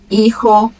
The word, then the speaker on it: hijo: Mas ela não tem som nenhum nas palavras. Onde ela aparecer, o som vai ser mudo. Hola, helado, hijo, hacer, huracán, héroe, hombre.